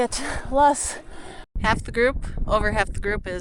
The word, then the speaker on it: Loess: Loess.